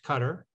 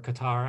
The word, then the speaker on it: Qatar: fair to cut to Cutter um or Qatar I know there's multiple pronunciations uh the qataris have